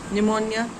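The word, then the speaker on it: pneumonia: आता है psychology P कहीं नहीं आता है निमोनिया पी कहीं नहीं आता है तो यहां पर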